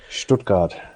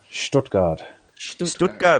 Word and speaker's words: Stuttgart: watching in Stuttgart yawn still hasn't corrected my pronunciation strip card not that bad Stuttgart okay ich liebe dich yeah as a would